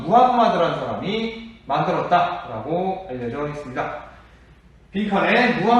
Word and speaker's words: 무함마드: 여기에서 상인으로 활동하던 이 무함마드라는 사람이 만들었다라고 알려져 있습니다. 빈칸에 무함마드 써보세요. 동그라미 1번에 무함마드. 옛날에 선생님 어렸을 때는 마호메트라고 배웠는데요. 마호메트라는 발음보다는 무함마드가 좀 더 현지 언어에 더 적합하다, 네, 좀 더 가깝다라고 해가지고요.